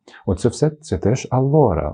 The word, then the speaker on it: allora: Вимова алора. Наголос на букву о.